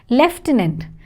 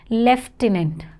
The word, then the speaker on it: lieutenant: is leant over here leftenant leftenant the pronunciation is entirely different from the spelling so you have to be very careful leftenant next we have